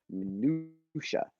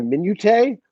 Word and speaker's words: minutia: Minutia. Minuta. A lot of people say minute, which is what I said for like decades until someone said, yeah, that's minutia, champ.